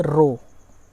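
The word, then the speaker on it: rho: ठीक है, इस सिंबल को क्या बोलेंगे, रो। ठीक है, इसका प्रोनाउंसिएशन होता है रो, ध्यान से, पी की तरह होता है, ऐसा आप मोड़ दें इसको।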